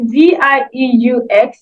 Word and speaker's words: vieux: For old, we have vieux. It's spelled Vieux for masculine, and the feminine is vieille, which is Vielle.